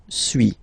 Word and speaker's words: suis: Okay, so first one, suis, as you've been noticing, you don't pronounce the final S, okay.